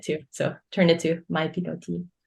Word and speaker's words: mypilotis: So turned it to mypilotis. A lot of people mispronounce it. They say mypilotis, which I just like.